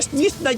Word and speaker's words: Snezhnaya: algún miñi miñi dice Por qué dice snas todo raro porque una rusa me dijo que se pronunciaba así y snn está inspirado